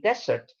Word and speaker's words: dessert: Be careful with the pronunciation, because if you say dessert, that is the Sahara Desert.